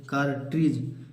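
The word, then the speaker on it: cartridge: आई डी जी का काटिज काटिज माने कारतूस सी ए आर टी आर आई डी जी ई कार्ज काटिज माने कार्तूस इसमें बच्चों डी साइलेंट है कैलरी कैलरी माने घुर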